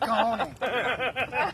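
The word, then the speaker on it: cajón: It's my big cajon. It's actually it's written like Cajun, Yeah. but it's pronounced cajon.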